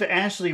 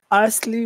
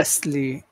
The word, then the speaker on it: Ashley: Ashley you've got asy raise your tongue so that the your tongue is blocking the air because the the the air goes through and it goes everywhere off to the sides and that's what makes that sound as yes yes raise